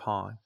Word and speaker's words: Han: I love that he intentionally mispronounced his name. And Han's like, it's Han, but that's all right. Like, he just lets it go. And then from that point on, it's Han. Because that's how Billy Dee pronounced it, and he refused to say otherwise. It's like, did no one tell him? I've always been curious about that. It's like, you know, it's Han, right?